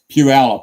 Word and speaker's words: Puyallup: So I'm assuming you can say Puyallup, right? Puyallup, yeah.